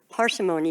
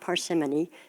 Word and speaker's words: parsimony: radical ideas about Justice parsimony that's an interesting word I was mispronouncing it for a long time it's not parsimony it's parsimony and I think some